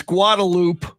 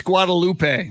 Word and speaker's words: Guadalupe: found that interesting uh in austin it's guadalupe and in san antonio it's guadalupe yeah i know we're just